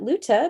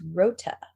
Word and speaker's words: Rota: And the locals call it Luta based on a mispronunciation by the Japanese occupiers of the actual name of the island, which is Rota, R-O-T-A.